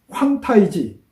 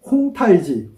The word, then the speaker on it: 황타이지: 청나라에도 태종이 있었는데요이 청태종 황타이지 우리는 홍타이지 홍타지 뭐 혼타이지 여러가지로 말하지만 중국 발음으로 보면 황타이지입니다 한문으로 읽으면 황태극기인데요이 황타의제는